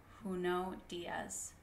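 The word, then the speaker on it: Junot Díaz: saw the world and the quote is from who know Diaz and that's how you say his name he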